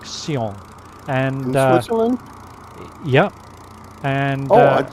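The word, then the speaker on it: Sion: the airport i believe the pronunciation is something like seong which is s-i-o-n very good i think it's pronounced something like seong and uh yeah and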